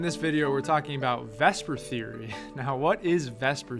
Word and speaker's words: VSEPR: to come out now let's pronounce Vesper even though the S comes before the e not my decision by the way and